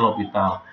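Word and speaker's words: L'Hôpital: Nah, tulisannya L Hospital ya, tapi dibacanya L'Hopital.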